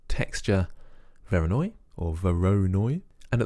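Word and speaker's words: Voronoi: I looked that up it's not Vera noir I thought it was French but it's actually Russian and Vera Noi was his name the mathematician that came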